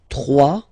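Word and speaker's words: trois: 3. Final S not pronounced.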